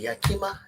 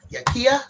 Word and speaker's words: Yakia: And then today we got and I don't know how to pronounce it. Yakima Yakia, sorry.